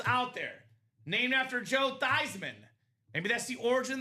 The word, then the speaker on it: Theismann: It's actually pronounced Theismann. It's a German name.